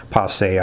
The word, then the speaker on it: passé: fart philosophy, whether it's passé would be a fancier French way of saying that. Passé, I guess, is how you really pronounce it, but the Americanized pronunciation is probably passé.